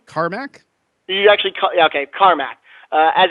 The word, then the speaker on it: Carmack: hired game programming luminary John now is it ceramac is that how you pronounce his name Carmack you actually okay Carmack as its Chief technology